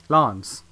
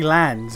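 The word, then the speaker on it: Lanz: know Lance and I I can't use the excuse of you know that's the American pronunciation whereas I'm British I can't do that because almost everyone in the fucking cast is British and they all say lands cuz lands isn't it's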